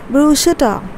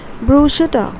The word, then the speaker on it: bruschetta: garlic you know so this is what you how you pronounce it as it's brushitta okay broshitta remember i'm pronouncing it